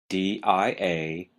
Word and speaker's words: diaphysis: the first term is diaphysis d-i-a-p-h-y-s-i-s diaphysis notice the stress is on the second syllable it really doesn't sound like it looks well what is a diaphysis that is the term